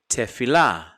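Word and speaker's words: תפילה: Another word, tefillah, tefillah, tefillah. See how quickly I have to pronounce that short E?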